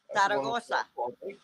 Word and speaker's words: Zaragoza: Zaragoza.